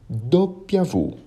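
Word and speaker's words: doppia vu: x e o y que em italiano serão pronunciados como ilonga capa do piavo bem parecido com português não é mesmo e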